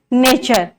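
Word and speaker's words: nature: यहाँ पर टी के बाद क्या है, यू आर ई है, नेचर, तो ये क्या हो जाएगा, नेचर। यहाँ पर टी यू आर ई, इसका पूरा प्रोनाउंसिएशन क्या हो जाएगा, टी का च हो जाएगा।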